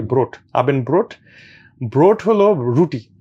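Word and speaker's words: Brot: যে ভোট মানে আর উচ্চারণ একটু ডিফারেন্ট মানে বিআর ওটি ব্রোট আবেন ব্রোট ব্রোট হলো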